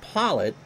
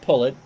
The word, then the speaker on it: Pollet: So Pullet, although it looks like Pollet, it's pronounced Pullet, is opening 9 on 28 pitches.